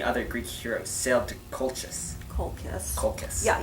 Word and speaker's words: Colchis: Once Jason and many other Greek heroes sailed to Colchis. colchis. Colchis. Yeah, you pronounced that CH correctly. It's K in Latin.